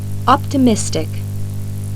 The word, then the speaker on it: optimistic: Например, при добавлении суффикса IC. ударение перемещается на слог, предшествующий этому суффиксу. Послушайте следующие пары слов. Artist. Artistic, Economy. economic, Scientist. scientific, Optimist. optimistic.